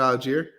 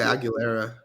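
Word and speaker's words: Allgeier: Tyler Algier. I was about to say Aguilera.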